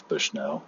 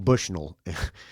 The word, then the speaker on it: Bushnell: It is Bushnell. And I call him Bushnull when I introduce him on the st sometimes. I'll say Chad Bushnull. And um he gives me a look like you're mispronouncing my name, you